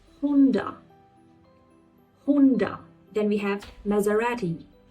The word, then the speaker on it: Maserati: Then we have Maserati. Maserati. We say it's Maserati. In British English or American it is Maserati. But in Italian it is Maserati. Maserati or in British it is Maserati.